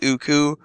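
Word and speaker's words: Ooccoo: to be pronounced as uku like cuckoo without the C at the beginning because it kind of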